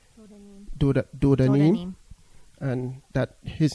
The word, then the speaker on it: Dodanim: And then we have Diodim, if I pronounce that correctly. Dodanim.